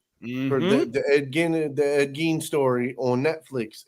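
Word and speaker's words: Ed Gein: Ed Gene. Okay, that's right. That's how you say it.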